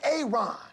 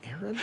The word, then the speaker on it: Aaron: A Aon. Aaron. Why didn't you say it the first time I said Aon? Because it's pronounced Aaron.